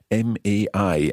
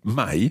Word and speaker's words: mai: isn't it it's the word the my my m-a-i and it kind of means two things see